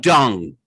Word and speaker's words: Deng: Her name is DENG. D-E-N-G? her name is DENG in that's Latin the proper, alphabet. That's the proper it's Chinese pronounced transliteration. Dung.